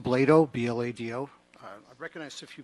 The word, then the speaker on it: Blado: Okay, Blotto, and then on deck, Morgan Butler. It's pronounced Blado, B-L-A-D-O.